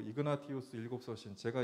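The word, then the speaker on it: Ignatius: 이름부터가 여기 이냐시오스 이렇게 이태리식으로 발음을 하고 있는데, 원래 이름은 이그나티우스니까 뭐 이런 게 좀 다르고, 우리는 예를 들어 감독을 여기서는 주교라고 표현해요.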